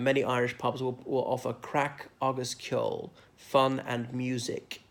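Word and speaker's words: craic: people are not Irish will know crack spelt CRA I see I'm usually not spelling these words but not the usual spelling of crack meaning fun and many Irish pubs will offer crack harvest kill fun and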